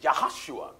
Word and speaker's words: Yahushua: was Moses minister right there are no J's in the Hebrew language right so the proper pronunciation of Joshua is yahushua that's right and yahushua